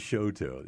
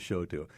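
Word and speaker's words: Chouteau: to Kansas City, they're thinking, "How do you pronounce that? Well, if you if you're wondering, it is showto. It is showto.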